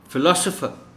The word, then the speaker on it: philosopher: Philosopher, इस word में जो L है उस पर स्ट्रेस है.